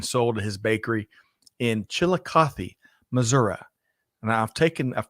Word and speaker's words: Chillicothe: I'm getting that right chili coffee Chillicothe Missouri yeah there's no I am on the end of Missouri um so with that